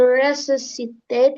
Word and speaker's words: resuscitate: The paramedics tried to resusitate him. Sikit lagi. Resusitate. Yang bunyi senya ini tinggi.